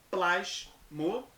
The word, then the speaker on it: plasmoptise: De novo, plasmoptise. O P é mudo.